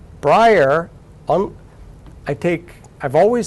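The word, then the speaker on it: Bryar: back to Brier Massachusetts which by the way is spelled b r y a r Brier on I take I've always set my books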